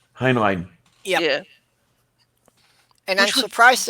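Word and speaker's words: Heinlein: and it was by Robert heinan I think is how it's pronounced hin line yeah yeah and I'm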